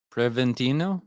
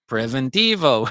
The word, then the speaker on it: preventivo: Preventino. No. Preventivo. There is a V at Now the end, not an N. preventivo.